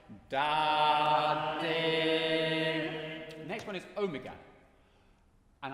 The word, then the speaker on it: Omega: Next one is omega. And I think of the English word door.